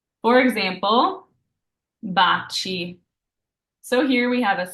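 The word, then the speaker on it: baci: what's following those so if you see an i or an e after your C it's pronounced cha like cheers in English for example Bachi so here we have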